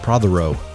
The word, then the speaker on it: Prothero: Prothero. Is that right? Did great. Prothero. All three syllables.